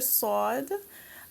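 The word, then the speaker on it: صاد: we have the letter Sode Sode is another heavy letter you pronounce it with a round mouth sword so just be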